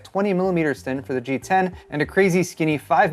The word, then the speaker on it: GX: on model 10 so that gx is actually pronounced g10 as in the roman numeral 10.